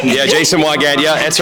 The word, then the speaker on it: Jason Weigandt: Yeah, Jason Weigandt. Yeah, that's right. But no one can pronounce it properly, so we just go with.